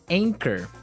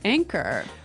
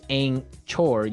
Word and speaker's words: anchor: Anchor. Now, it's spelled a n c h o r, right? But you don't pronounce the ch as you normally would, right?